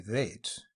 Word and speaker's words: vats: road wagon it was made in thin vats pronounced in the dairy vaids was soft and eaten